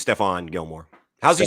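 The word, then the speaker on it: Stephon: pronounced his first name or is it stefan i think it's stefan gilmore how's he spelling s-t-e-p-h-e-n that's my middle name h-o-n might be stefan this could be stefan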